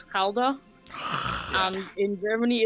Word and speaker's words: Gouda: Gouda. Can I? Yeah, please. Gouda. It's Gouda. Gouda. Gouda. That's how we pronounce it in Gouda.